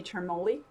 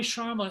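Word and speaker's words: Charmoli: the director choreographer tony termuli oh tony sharma huh i loved tony sharma oh i totally pronounced that wrong i was like charmily yes normally tony learned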